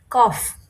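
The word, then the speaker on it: Kopf: কফ কফ পি এফ এর উচ্চারণটা এর মতই উচ্চারণ হবে কফ বুক বুবা পেট বাক বাক পেটবা বাইন পাস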